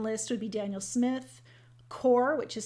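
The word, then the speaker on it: QoR: But a few I can list would be Daniel Smith, Core, which is spelled Q-O-R.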